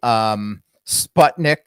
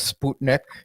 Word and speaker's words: Sputnik: But then, most Americans say Sputnik instead of Sputnik.